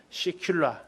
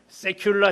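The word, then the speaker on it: סגולה: 시큘라. 이게 보배라는 뜻이에요. 보배. 하나님의 보배, 나의 보배. C자에다 너무 발음을 세게 하시는 분들이 계시는데 세큘라, 시큘라, 너는 나의 보배다라는 거예요.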